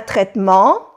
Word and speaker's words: traitement: Vous suivez un traitement? Vous prenez des médicaments? O sea que le pregunta al médico, ¿usted está en tratamiento? ¿Está tomando medicamentos? Vous suivez un traitement? Aquí tampoco se pronuncia la E.